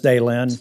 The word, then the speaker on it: Daylin: Ms. Daylin, did I pronounce that right? Yes, Senator. You said it was management.